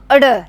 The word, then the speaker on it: ड़: तो बच्चों इसमें जो ड है उसके नीचे लगी हुई है बिंदी, इसलिए हम बोलेंगे इसको ड। और बच्चों इसका जो उच्चारण है वो होता है अड़ के रूप में।